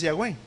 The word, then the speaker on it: Yahweh: Pero la palabra correcta es Yahweh.